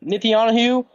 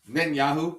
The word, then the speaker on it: Netanyahu: Nitanu, how do you say his name? Netanyahu.